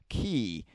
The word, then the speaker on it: quay: more us being Americans not really hearing the word key um spelled like that yeah well because we've got the Florida keys right yes and it's spelled k Ys mhm um in the Brit Britain is areas of the world um key is with a Q and there's a u in there and an a what well it's like